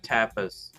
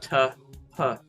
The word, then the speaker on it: tapas: I was saying tapas, but it's tapas, tapas.